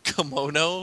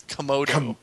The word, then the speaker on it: Komodo: How can you argue with a very dashing Komodo dragon? I know. Yeah, that is a Komodo. Whatever, sell him at. I don't care. Kimono? It's Komodo.